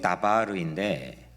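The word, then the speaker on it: דבר: 말은 히브리어로 다바르인데 광야는 히브리어로 mid바르입니다. 그러니까 미자만 빼버리면 거의 비슷한 발음입니다.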